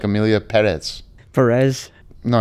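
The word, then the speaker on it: Pérez: much like Amelia perz Perez no I believe you put the emphasis on the first syllable because of the accent no is that a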